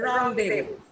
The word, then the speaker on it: rendezvous: Yeah, it is pronounced as rendezvous. It might come RENDEZVOUS. Okay, it's rendezvous. It's a French word.